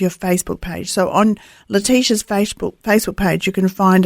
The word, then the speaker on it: Letitia: So on Letitia's Facebook page, you can find an easy way.